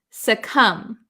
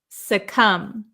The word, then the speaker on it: succumb: is pronounced said come there is no B sound succumb succumb succumb the bee is